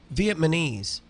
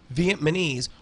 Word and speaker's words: Vietnamese: say stupid things like Vietnamese like no no Vietnamese there is no place no such place as vietman Viet it's Vietnam so it's vietnames and I will I